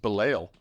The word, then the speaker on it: Belial: I feel like it's spelled like it should be Belial, but they say Belial. And Belial is the basket case.